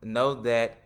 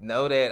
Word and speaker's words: Nodat: From Know That. Did I pronounce that right? Yeah, you know how you say, hey, did you know that? Know That.